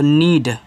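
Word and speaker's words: need: भी लगा दो लेकिन डी से यहां द मत बनाना डी से आप यहां पे ड बनाना तो नीड और नीड का मतलब क्या होता है नीड का मतलब होता है जरूरत चलो आगे एस डबल ई डी तो यहां देखो एस से बना छोटा सा अब यहां भी तो डबल ई दिया है सर हम बड़ी ई की मान्यता लगा देंगे लगा दो डी से ड कर दो सीड हो गया और सीड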